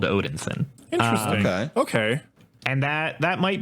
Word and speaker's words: Odinson: galaxy and he's just Odinson dalton can you spell that for me because it sounds like it should be Odin son it is Odin so that's that's like